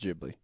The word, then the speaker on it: Ghibli: It's pronounced Ghibli.